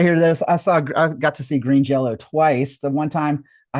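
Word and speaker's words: Green Jellÿ: And just for the record, it's not green jelly. It was never green jelly. The Y is pronounced like an O. Like an O. In their lore, there's still green Jello.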